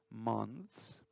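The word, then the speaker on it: month: meses en inglés mont tenemos que la th la tco la h muchas veces se pronuncia como una zeta mons el tenor y enero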